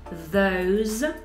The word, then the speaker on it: those: singular, y también la pronunciación de this con S, that, these con Z, es un sonido como una Z, these, y those, también sonido Z.